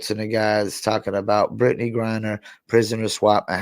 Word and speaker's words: Griner: What do you think about Brittney Grinders? Yo, Brittney Say her name Griner. right, correct.